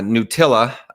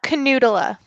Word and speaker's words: Knuutila: have i might be saying her last name wrong uh nutilla hi how are you hi it's a canoodler oh my god talk about getting yeah people